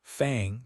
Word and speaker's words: Fang: He pronounced Fang to rhyme with long, rather than like he was talking about a particularly sharp tooth.